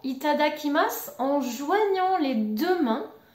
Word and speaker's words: いただきます: t'adakhima c'est pas possible on prononce souvent il t'ada qui masse en joignant les deux